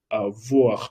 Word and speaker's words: avoir: Recuerda el uso de OI dentro de bonsoir.